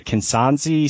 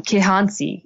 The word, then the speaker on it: Kihansi: I mean, so the first chapter is about this, and correct me if I'm wrong, is the Kinanzi spray toad. Is that how you pronounce it? Um, Kihansi.